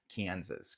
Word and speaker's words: Kansas: E nota que muda também. A gente fala, no anterior a gente falou Kansas, Kansas. Aqui é Arkansas, não tem o som de Z.